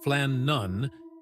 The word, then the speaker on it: Flannan: The Flannon Isles, pronounced Flan Nun, sit 20 mi west of Scotland's outer Hebdes.